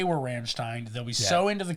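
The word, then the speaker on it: Rammstein: perform it say we're Ramstein they'll be so into the cause they will not sue us yeah they'll give us their blessing yeah we just do the opposite the Steen or Stein pronunciation and then only one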